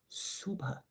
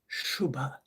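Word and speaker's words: शुभा: All right, name 77 Suba. Actually, it's Shouba.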